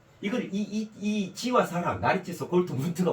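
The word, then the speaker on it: Goldmund: 골트 이렇게 해요 그래서요 이게 골 드를 트로 발음해요 골트 문트 골드 문드 아니고 골드문트 예 그래요 그에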